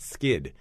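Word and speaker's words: Skydd: It's called Plant Skid, and skid is spelled S-K-Y-D-D.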